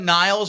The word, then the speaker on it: Nilles: So Annika Niles or Nilles, I've heard different pronunciations with it. I think it's Annika Nilles.